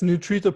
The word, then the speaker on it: Nutrita: But how do you work with in your program, it's called Nutrita. Is that how you say it right? I'm saying Yeah, it's Nutrita Pro is the app and Nutrita Pro.